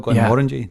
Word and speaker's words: Glenmorangie: And having Dan be so accommodating, it's great working with Glenmorangie and tasting Ardbegs and going. Yeah, and you got it as well, Glenmorangie. Nailed it. Nailed the pronunciation.